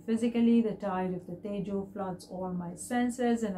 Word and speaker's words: Tejo: And Tejas is pronounced as Tejo.